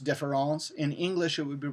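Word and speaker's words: différance: a deliberate misspelling now in French French it would still be pronounced difference in English it would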